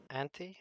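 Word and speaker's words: Anthy: doesn't i i forget something there's it's it's anaphy right no wha what else how do you pronounce her name auntie oh yes like continuously trying to sabotage her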